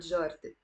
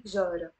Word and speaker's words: جارة: You notice here the te marbuta is silent. I'm not pronouncing it. I don't say جارت, I say جارة.